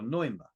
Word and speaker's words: pneuma: The ancients called this pneuma, which is another silent P, like Ptolemy, but it's P-N-E-U-M-A, pneuma. Or I think maybe if it's silent P, you can call it pneuma or neuma, maybe.